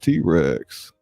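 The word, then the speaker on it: Tit Rex: as priz throws and tetrex pronounced T-Rex micro crew that parodies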